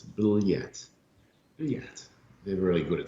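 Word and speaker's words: блять: which is which is blat yet and that means in russian it's b-l-y-a-t and it's hard to sort of get your head around how to pronounce it but it's bill yet yet they're really good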